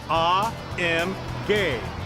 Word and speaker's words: AMG: AMG well we're told the proper German pronunciation is ah M gay but around here we